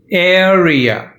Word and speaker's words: area: any let's start pronunciation area the first syllable is stress air rear so air is stressed area use primarily mathematics